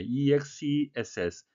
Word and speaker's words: excess: 참고하실 것은요, 예, EXCESS, 예, access처럼 발음이 될 수 있는데요. 발음은 excess가 되겠고요. 과잉, 초과라는 의미로 예, access와 예, 발음에 의해서 구별해서 알아두셔야 되겠습니다.